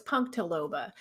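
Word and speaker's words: punctilobula: to pronounce this then stadia punk tildoba punktila loba no it's punktaloba and uh hardy from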